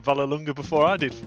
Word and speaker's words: Vallelunga: are we doing steve uh pleased you said valar lunga before i did for pronunciation thank you very much yeah interesting circuit